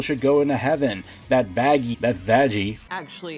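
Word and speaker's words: Vaggie: know how people should go into heaven that vaggy that vagi actually it's pronounced vaggi no is a fallen angel it's a bit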